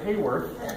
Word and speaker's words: Haworth: We are the weird side that pronounces it Haworth, but we are the descendants of Richard or Dick Haworth, and we, I'm proud to say, are at 100% representation.